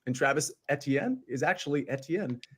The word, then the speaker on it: Etienne: is actually Fijian and Travis Etienne is actually Etienne not etn okay pronunciation police we have left the building and